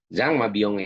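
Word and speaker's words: Jean Mabillon: Nah, kemudian ada eh Zang Mabyong ya, nulisnya kebanyakan ya. Jan Mabyong Mabyong bacanya Zang Mabyong ini dia menulis buku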